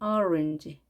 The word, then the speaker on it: orange: 우리가 오렌지라고 보통 말하는데 영어 발음은 orange. 맨 앞에 O에 강세가 있습니다.